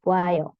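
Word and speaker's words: 봐요: bukan Ayo disingkat jadi buayo Kenapa karena ketika a ketemu dengan o atau Sori ketika vokal o ketemu dengan vokal A itu bisa disederhanakan jadi wa jadinya buayo gitu yaayo disingkatayo he jadi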